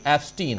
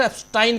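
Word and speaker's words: Epstein: है कि जेफरी एस्टीन हालांकि मिस्टर एफस्टाइन कह रहे थे वो। ओरिजिनली नाम उच्चारण भी एफस्टाइन ही करना चाहिए। लेकिनकि अपने यहां एस्टीन एस्टीिन कहा जा रहा है तो मैं भी वही कह रहा हूं।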